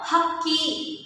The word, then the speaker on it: ಹಕ್ಕಿ: ಅರ್ಥವನ್ನ ಕೊಡುತ್ತೆ okay next ಹಕ್ಕಿ ಅಕ್ಕಿ ಅಲ್ಲ ಮಕ್ಕಳ ಹೇಳಬೇಕಾದ್ರೆ ಕರೆಕ್ಟ್ ಆಗಿ ಹೇಳಬೇಕು ಹಕ್ಕಿ ಹಕ್ಕಿ ಅಂದ್ರೆ ಪಕ್ಷಿ ಬರ್ಡ್ಸ್